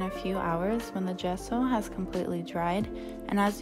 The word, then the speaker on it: gesso: gesso in one of our first videos i pronounced it gesso because it is spelled with a g but a kind person on reddit told me that it is in fact pronounced gesso so she added some gesso along with some